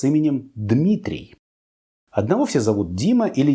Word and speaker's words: Дмитрий: Испанцам сложно произносить 2 согласных звука «дм» подряд, и оно превращается у них в «Димитрий».